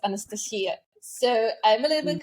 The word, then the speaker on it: Anastasia: In my native language, because originally I'm from Belarus, my name is pronounced Anastasia.